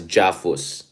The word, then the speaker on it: JAFUS: So it will be an unprecedented first time ever trilateral summit between Philippines, Japan, and US, which I've termed as JAFUS, so that it also rhymes with AUKUS.